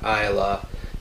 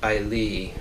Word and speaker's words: Islay: written it's islay uh i was pronouncing it iola after looking up online apparently it's closer to ailee and i'm probably still